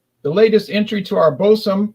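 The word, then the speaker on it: Boatswain: The latest entry to our Bosom, pronounced Boson, line of beers is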